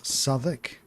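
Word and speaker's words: Southwark: Uh Sodic, which is spel spelt southwalk.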